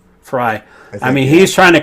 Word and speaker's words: Frey: is like Frey is is how do you pronounce his name? Frey or Fry? Uh Fry. Fry.